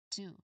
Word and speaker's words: two: Again, how do you pronounce this number? This is two. Okay, two.